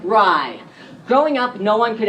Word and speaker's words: Rye: name, I decided to take the syllable that was always there, but that people just didn't recognize. Rye. But spelled like the word, only 3 letters, so that I'm never